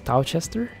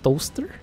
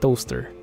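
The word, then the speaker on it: Towcester: how I call this Tao Chester apparently you pronounce that ass toaster I don't know though I ate took a look at it I googled up in it it is pronounced like toaster I think if you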